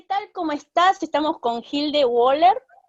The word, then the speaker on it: Wöhler: De ahí viene el apellido, que en realidad se pronuncia Wöhler.